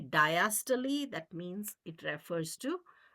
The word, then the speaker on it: diastole: Diastole means relaxation. Now, some students will say systole, diastole, but I think the correct pronunciation is systole, diastole.